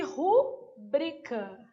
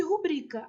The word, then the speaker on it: rubrica: Então, na letra A, é protótipo. De rubrica. Então, aqui, ó, sílaba tônica, protótipo e rubrica. As duas estavam erradas, tá?